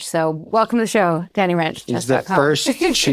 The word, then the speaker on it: Rensch: He is and I I wrote this when we signed his book he didn't never heard this before which was shocking that wrench rhymes with mench, okay?